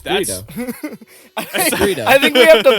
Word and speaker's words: Greedo: It's Greedo. I said it wrong. Oh wait, is it Gweet? Nope. It's that's Greedo. Greedo.